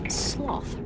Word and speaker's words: sloth: NPR's Greg Allen reports it's called sloth, rhymes with moth fever.